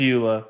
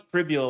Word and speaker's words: Pribula: It's Pribula. Pribula. Because I thought it was Pribula, like fibula, but I was corrected. Yeah, he wasn't that's playing. exactly what I thought. Pribula, yes.